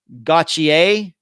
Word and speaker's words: Gauthier: know it's it's g-a-u-t-h-i-e-r it's one of those french names that you pronounce it not the way it looks it's kind of like